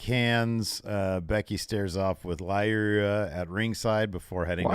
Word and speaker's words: Lyra: Lyra. Valkyria. Lyra. But Lyra by itself isn't that difficult. Yeah, no, I'm saying it. Lyra. That's how it's pronounced.